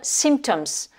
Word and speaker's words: symptoms: in 1 les symptômes symptoms donc ici on prononce le m alors qu'en france et on va pas prononcé le m on est ici sur